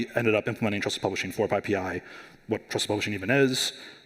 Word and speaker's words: PyPI: for those of you who aren't uh it's pronounced pii uh it is the primary package index for